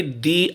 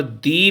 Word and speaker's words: the: वहाँ पर दी पढ़ेंगे, दा नहीं पढ़ेंगे। दा वहाँ पढ़ना है जहाँ कॉन्सोनेंट का वर्ड आए और कॉन्सोनेंट का साउंड भी आए, वहाँ पर दा पढ़ना है आपको।